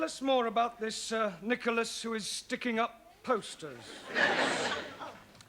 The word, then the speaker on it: Nicholas: upon a times there was a man called nickel ass that's not quite right no no once on a time there was a woman called Nicklas it's pronounced Nicholas all right once upon a time there was